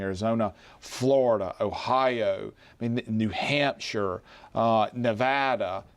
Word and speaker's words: Nevada: I think he holds on to Georgia and Arizona, Florida, Ohio, New Hampshire, Nevada. Pronounced it correctly for anybody watching in Nevada.